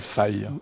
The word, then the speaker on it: Fi: la qualité et les débits ça s'appelle Google fille ou fi oui on prononce à la française ou à l'anglaise peu